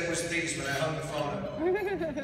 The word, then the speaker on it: Theismann: But we think by just simply changing the pronunciation of your last name from Theismann to Theismann to Ryan with Heisman, we get you that trophy.